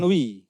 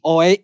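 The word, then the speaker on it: Oey: Morgan. Wi. Morgan itu wi. Oi. Oi itu bacanya wi.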